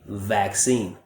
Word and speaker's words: vaccine: for my Russian speakers, tend to replace the V like victory for a W. So instead of vaccine, I often hear whack, whack, whack, vaccine, when it should be vaccine.